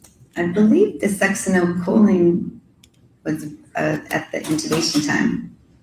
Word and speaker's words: succinylcholine: And so if the, butcher the pronunciation, you pronounce it. Succinylcholine. Succinylcholine was administered in the ICU because after she